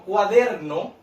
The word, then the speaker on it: cuaderno: Por ejemplo, cuaderno. Yo separo cuaderno, cuaderno. Los niños pueden ir utilizando las palmitas, ¿cierto? Cuaderno. ¿Dónde cargo yo la voz? En la sílaba der.